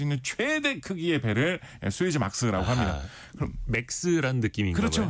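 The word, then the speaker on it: Suezmax: 그래서 이 수에즈 운하를 통과할 수 있는 최대 크기의 배를 수에즈 막스라고 합니다. 그럼 맥스란 느낌인가요? 그렇죠. 예, 그 뜻입니다. 근데 업계에서 왠지 수에즈 막스라고 많이 발음을 합니다.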